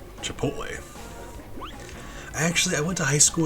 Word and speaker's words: Chipotle: So, I mean, it's a T before an L. Chipotle.